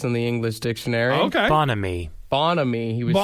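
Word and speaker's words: bonhomie: yeah yeah yeah uh so bonamy is what it is cheerful friendliness yeah I like I like pronouncing it Bon homie like you got a good friend yeah those are my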